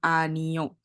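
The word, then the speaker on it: 아니요: Kalau misalnya yang O itu berdiri sendiri, dia tuh bacanya akan baca vokalnya. Jadi ini cuma bacanya A. A, terus ini N, ini I, berarti Ani. Balik lagi, kalau bulat doang,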